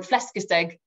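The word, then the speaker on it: flæskesteg: pleased to report um flesca's egg is how i've been told to pronounce it i've been practicing that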